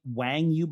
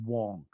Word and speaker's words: Wang: he went by Jimmy wangu but Wang is a mandarin version should be Wong so I will occasionally flipflop between Wong being the Cantonese pronunciation and Wang being how he more generally known but it should be